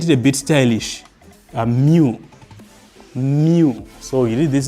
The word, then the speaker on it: mu: A mu.